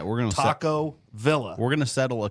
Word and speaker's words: Taco Villa: it Taco Villa or Taco Via proper PR pronunciation I can't even pronounce pronunciation correct proper pronunciation is v i l l a the two L's make a y sound if we were to